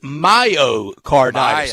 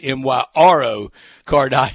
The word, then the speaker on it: myocarditis: mispronounce it it is myocarditis i had a r in there i had my row in there when it's my oh myocarditis instead of myro cardiac so so i i